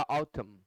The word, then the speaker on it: autumn: 18 में शब्द है ऑटम, इसी को भिन्न भिन्न तरीके से लिखा गया है। AUTUMN होगा, एम के बाद आने वाला एन साइलेंट होता है इसलिए नहीं पढ़ते हैं इसे। शब्द होगा ऑटम, तो 18 का आंसर